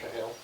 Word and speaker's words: Chehayl: CHEHAYL, it's pronounced Chahale.